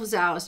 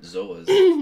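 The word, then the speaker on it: Zao's: Z-A-O apostrophe S. Oh, Z-A-O or Z-O-A? Z-A-O. Zao. Oh. Zao. I totally went Zoas. That's okay. I said Zoas.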